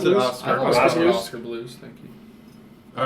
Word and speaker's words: Oskar Blues: I pronounce it Blues? Oscar. Oscar Blues? Oscar Blues, thank you.